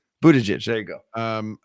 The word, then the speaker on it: Buttigieg: It's Buttigieg. Buttigieg.